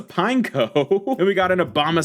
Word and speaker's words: Pineco: fun way to start going into pin Echo wait what what I pulled this card already why did I say it like that it's a pineco and we got an